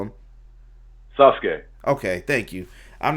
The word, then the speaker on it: Sasuke: What's the proper pronunciation of it, Bryan? What do you call him? Sasuke.